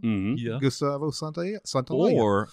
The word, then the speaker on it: Santaolalla: pronounce his name, but I know that there's one L, and that's got to be an O sound, and then there's two L's, so that's a yeah sound. Mm-hmm. Yeah. Gustavo Santaolalla.